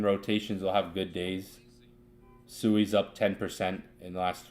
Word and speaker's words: Sui: It's pronounced Sui.